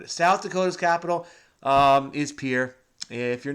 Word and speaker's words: Pierre: And it looks like Pierre, but I've been told it's Pierre.